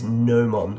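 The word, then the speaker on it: gnomon: the answer is nomon I'm assuming that g is silent g n o m o n if you had halosis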